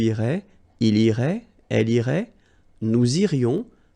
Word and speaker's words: nous irions: Nous irions, final S not pronounced.